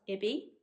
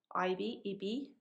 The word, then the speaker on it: Ibi: So I've taken quite a bit home, and I am making the new Pauline Alice pattern called, I think it's pronounced Ibi, Ibi, IBI is how you spell it.